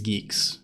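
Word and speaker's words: Guix: but I think it's I think it's Geeks right it's like to rhyme with Geese how is how is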